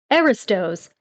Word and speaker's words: Aristos: I wonder, is it pronounced Aristos? It's like the aristocracy. I can see the root of the word, but to look that up maybe. Aristos. Oh, okay, like, like cereal.